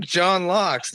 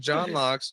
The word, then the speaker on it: John Laux: It's Oh, my I'm John Locks.